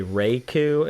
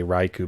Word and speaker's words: Raikou: oh you and then some people say reiku and some people say raiku i would say raiku based on raichu yeah that's because i